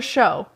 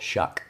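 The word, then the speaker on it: Shough: Mason Rudolph, Shadur Sanders, Tyler Show. Is that how you say it? Shuck. Shuck with a gh. I'm pretty sure it's Shuck.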